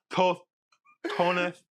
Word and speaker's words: tostones: Well, Nick, have you ever had tostones? No. You have to say it like that. Tostones. I've never had the tostones. You gotta stick your tongue out.